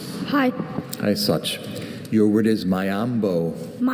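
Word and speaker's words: miombo: Mayambo. Mayambo.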